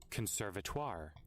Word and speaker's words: conservatoire: How do you say Conservatoire.